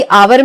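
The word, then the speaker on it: hour: तो आर भी हमने पढ़ा था कि आवर में है तो एच। यह एच कंसोनेंट है। लेकिन जब हम प्रोनाउंस करते हैं तो इसमें आ का साउंड आता है।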